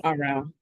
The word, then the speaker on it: Errol: Yes, Errol. Sorry, is that how you say it, Errol? Oh, it's RL. RL, sorry.